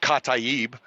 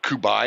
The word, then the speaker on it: Kataeb: everybody who did not correct me on misprint pronouncing cata EEB I had been calling it like coup by and